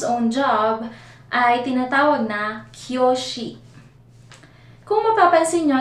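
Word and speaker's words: 教師: Kung mapapansin nyo, sa spelling natin merong u sa gitna, kyoushi. Pero sa Japanese, hindi nila binabanggit ng kyoushi, hindi sila ganun mag-pronounce. Ginagawa nilang prolong yung u, magiging kyoshi, pinapahaba nila yung o. Instead na basahin kyoushi, ang basa nila ay kyoshi.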